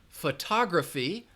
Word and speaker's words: photography: are all correct because both the first syllable and the third syllable have the schwa sound so in this word photography it has four syllables four syllables the first syllable photography that third syllable also has that schwa you can see in the IPA how it's written that upside down e has that schwa that reduced vowel sound that sound or in